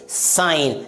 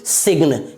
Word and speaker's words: sign: सबसे पहला SIGN, इसे क्या पढ़ेंगे साइन ना कि सिग्न, क्या पढ़ेंगे साइन।